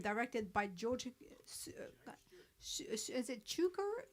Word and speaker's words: Cukor: Is it Cukor? Cukor? How do you pronounce George Cukor. Cooker. George Cooker.